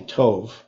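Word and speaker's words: טוב: Yeah, so the word there is, well, usually in Hebrew now you say Tov, just because they pronounce that last letter as a V sound. Okay. In modern Hebrew.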